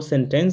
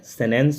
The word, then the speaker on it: sentence: वाक्य मतलब इंग्लिश में होता है सेंटेंस, आपने मोस्टली यही सुना होगा, लेकिन इसका प्रोनाउंसिएशन जो होता है वो सेंटेंस नहीं, एक्चुअल में सेनेंस होता है।